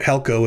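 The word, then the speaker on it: ἕλκω: You can just look at helko and say, oh, it's pronounced helko.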